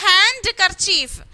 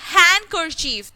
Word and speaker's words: handkerchief: letter in this word which is a silent letter here who can say d of course why because i said handkerchief hand hand i didn't say hand karchief handkerchief did i say that no i said handkerchief that means d is silent here what is the sound of d here the but i didn't pronounce d that means what d remains silent here so here the silent letter is d okay next one next